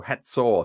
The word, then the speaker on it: Hatzor: a slightly different spelling I spell it h a t z o r some people spell it h a z o r i just do that to remind myself that this is the Hebrew syllable that makes a sound as in hat where it's not the English sound of hazor so it's got a like a TS sound like cats so hatso so that that reminds